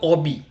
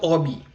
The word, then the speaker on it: hobby: what is your hobby make sure H is silent over here in French like I have I have told you hence it is s Obi s Obi now of the five